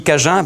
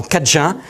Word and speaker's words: Cajun: Les Anglais qui ont pris le dessus, après, ont fait qu'eux, ils avaient du mal à prononcer cadien. Donc ils ont transformé le mot acadien en Cajun, et le D a disparu, il nous est resté donc l'appellation Cajun.